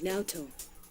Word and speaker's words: Naoto: detective I beg your pardon my name is NATO please don't give people bizarre nicknames you make